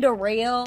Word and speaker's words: Darrell: My name Darrell, it's spelled like Daryl, but it's pronounced Darrell, Darrell, Darrell.